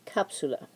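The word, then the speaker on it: cápsula: stress on that syllable capsula because it's not following the typical rule of second to last syllable when you're end in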